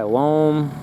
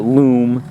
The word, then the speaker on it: loam: I don't have to buy loam. That's what we call it. I don't know what you call it wherever you are. Topsoil, loam, whatever. Some people call it loom, even though it's spelled L-O-A-M.